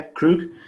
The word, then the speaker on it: Krug: But he plays a really good psycho, evil Klingon called Krug. How do you say his name again? Krug? Uh-huh. Yeah, Krug.